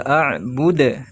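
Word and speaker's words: أَعْبُدْ: Nah, ma a'bud. Ada ain sukun maka dibacanya ditekan. Lalu di sini di akhir ayat 3 ada dalnya dibaca sukun sebab dibaca waqaf, itu harus dibaca qalqalah kubra atau sugro? Kubra. Ma a'bud. Ingat ya dipantul bude.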